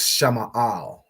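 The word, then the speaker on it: שמאל: So Sha is separate, Ma'al. Okay, so Sha Ma'al, Shama'al.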